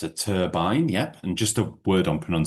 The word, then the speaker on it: turbine: It's a turbine, yep. And just a word on pronunciation, it's a hard I there, turbine rather than turbine.